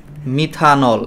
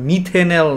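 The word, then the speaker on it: methanol: তো তখন প্রথম ভাওয়েলটাকে আমরা বাদ দিয়ে দিয়ে তারপরে আমরা এই যৌগটা পেয়ে গেছি মিথানল, এবং এর উচ্চারণটা তখন আর মিথেনেল না, এর উচ্চারণটা ইংলিশটা উচ্চারণ করে হলো মিথানল হিসেবে।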